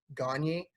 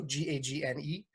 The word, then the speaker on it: Gagne: So myself, you could follow me on Untapped at Gagne, Gagne, not like Vern Gagne. It's spelt the same as Vern Gagne, but it's actually pronounced correctly, Gagne. So Gagne.